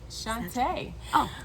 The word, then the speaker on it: Chantá: y'all my name is chante parker i like to tell people to say my name like rupaul said it in the 90s session shantae ah you better work